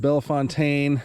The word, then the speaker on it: Belle Fontaine: Fountain Cemetery I mean I've heard it pronounced Bell Fontaine Bell Fountain Bell Fountain well I think it is official B Bell Fountain but here it